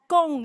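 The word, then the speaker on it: 恭喜: you can just yell it out the first syllable there gong let's do it together gong all together go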